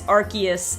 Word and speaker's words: Arceus: right like for example Arceus or I guess Arceus is the official official pronunciation of it but in the anime depending on which time you watch the trailer which barely watched it was Arceus are say essere seus so the anime does